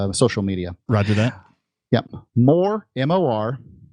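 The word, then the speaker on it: Morazán: M-O-R-A-Z-A-N. Morazan. Not Z-O-N, Z-A-N. Dot city. C-I-T-Y. Morazan.city. And currently there is one housing unit. I was in Morazan City about a week ago, and there was one housing unit.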